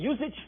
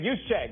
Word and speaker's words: Juszczyk: Because what is amazing about Shanahan, dudes like your man, was it Usage? Is that how you say it? Juszczyk. It's Juszczyk.